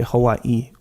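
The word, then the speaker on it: Hawaiʻi: the okina there like like the word Hawaii Hawaii there's two eyes at the end so you say Hawaii remember you were asking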